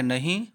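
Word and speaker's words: know: का अर्थ होता है नहीं वो तो आप भली भाति जानते हैं और नो के एन ओ डब्लू इसको भी नो पढ़ते हैं मैंने कई छात्रों को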